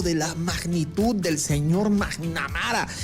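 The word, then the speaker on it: McNamara: Y salieron después los periodistas que un diplomático de la magnitud del señor Magnamara y se pronuncia Mac y sigue amara, o sea, que le haya atendido Marco y le diga la dama de hierro es un honor, por favor.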